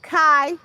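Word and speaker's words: chai: L I F E which is kai in Hebrew or it's high pronounced high. C H A I.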